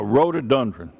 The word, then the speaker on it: rhododendron: I go, what in the world is a rhododendron? Actually, it's a rhododendron, is the right way to pronounce it.